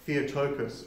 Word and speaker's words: Theotokos: to that time either we give her a second title that of Theotokos or fell vocals depending on who's pronouncing them and this is a